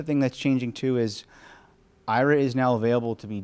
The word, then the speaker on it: Aira: download and install the Aira app from the App Store or from the Play Store. If you're using VoiceOver, you do have to pronounce it Aira versus our actual name, which is Aira.